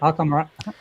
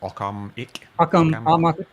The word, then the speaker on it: Occamic: Occamic. Like Occam-ic. Occameric ranking. Like Occam's razor, but with an ick on the end.